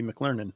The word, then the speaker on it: McLernan: name, and I say if McDonald's had a school and I was a student, I'd be McLernan.